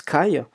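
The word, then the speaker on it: 貝: le kyocen et notamment le coquillage qui se prononce Kai et ben lorsqu'on veut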